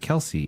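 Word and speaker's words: Kelce: Jason Kelsey says that he is going to pronounce it Kelsey and he's the best one of the group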